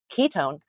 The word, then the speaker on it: ketone: Now we pronounce it own, you know, like you own something, but it's spelled one.